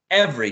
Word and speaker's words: every: Every, perfect. Every, 2 syllables, right?